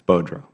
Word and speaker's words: Boudreau: Mr. Boudreau, did I say that? I'm going to pronounce it wrong. No, it's Boudreau. Boudreau.